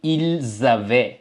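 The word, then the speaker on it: ils avaient: ஜவ்வே எல் ஜவ்வே okay இந்த கடைசில பார்த்தீங்க என்றால் அ ஈ n என்று வருது ஓகே நீங்கள் இந்த என் தேக்கு வந்து உச்சரிப்பு கிடையாது ஓ என்று உச்சரிக்க கூடாது இது இல் ஜவே மற்றும் எல் ஜவே ஓகே ஓகே அப்ப அந்த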